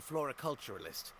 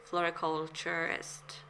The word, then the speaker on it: floriculturist: My wife was a floriculturalist. Best in the field. I love how it's kind of it's spelled differently than he pronounced it because what he said was floriculturalist.